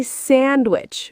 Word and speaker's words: sandwich: Say sandwich. We drop the D.